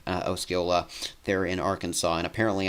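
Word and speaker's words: Osceola: with the European model in a place like osila there in Arkansas and apparently I am pronouncing that correctly um so I'm glad I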